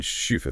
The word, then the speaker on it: SCHUFA: deep into this uh pronounce this shua with a German shua thing right yeah it's